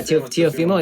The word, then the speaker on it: Teofimo: But it looked like Teofimo, or that's how you say his name? Yeah, Teofimo.